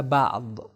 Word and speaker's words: بعض: صحیح تلفظ اس کا ہوگا بعض عربک کے اندر.